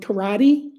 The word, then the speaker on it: karate: Does that have anything to do with karate? Well, yes, it's the same thing, but in Japanese it's pronounced karate.